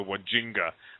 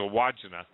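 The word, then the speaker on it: Wandjina: I used to call them the Wajinga, but it's a Wajina.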